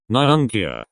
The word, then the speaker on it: nyunkia: llama in every crew nyunkia not your usual nipple kissing incapacitator the u is pronounced as the o in moon refers to a particularly